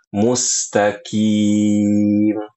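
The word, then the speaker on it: الْمُسْتَقِيمَ: Huruf qof-nya diganti jadi huruf kaf ya, Ibu-ibu ya. Ini salah dan ini kesalahan yang banyak sekali dilakukan oleh kaum muslimin ya seperti itu. Jadi bacanya yang fasih insyaallah adalah ihdinasiratal mustaqim. Ihdinasirathal mustaqim. Ihdinasirathal mustaqim. Seperti itu.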